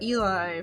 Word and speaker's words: Eli: And so I got Eli from Elizabeth. Even though it's pronounced like Elijah, it's from Elizabeth.